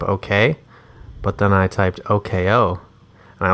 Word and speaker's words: Oko: It has to be Oko, but that people just have to know to say OKO. Because it's very more like hipster of you. OK dash OH. I want people to know to say that. But it's spelled Oko. OKO.